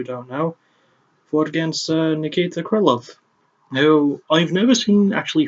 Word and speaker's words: Krylov: Then Krylov just, and it is pronounced Krylov, not Krylov, despite the spelling of his name, it is pronounced Krylov.